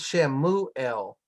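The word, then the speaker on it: שְׁמוּאֵל: I mean, the first shava is vocal. Okay. So whenever it's at the beginning of the word, it's vocal because it begins a syllable.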